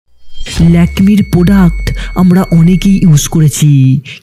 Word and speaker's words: Lakme: Tata তৈরি করে ল্যাকমি যার নাম এসেছে লক্ষ্মীদেবীর ফরাসি উচ্চারণ ল্যাকমি থেকে।